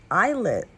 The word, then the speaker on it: ILLIT: This is me several weeks after I recorded that video and I recently found out that it's actually pronounced eyelet and I said illit during the whole video so my bad guys.